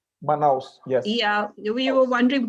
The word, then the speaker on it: Manaus: It's really lovely to hear, because when this strain came, particularly in, how do you pronounce it, Manaus? Manaus, yes.